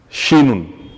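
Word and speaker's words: شين: Pour la lettre suivante, on a shinun. Shinun. Accompagné maintenant de la voyelle A, ça va se lire sha. Sha. Sha. Alors, la lettre shin, de son nom, se prononce exactement comme la Chine, un pays de l'Asie.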